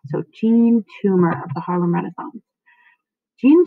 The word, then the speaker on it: Toomer: Toomer I have it I have heard it pronounced this john tumor but i will subsequently be calling him gene so gene tumor of the Harlem Renaissance